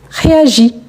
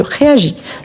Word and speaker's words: réagis: Quand on conjugue, je dis je réagis. Donc, je ne prononce pas le S à la fin. Je réagis ici.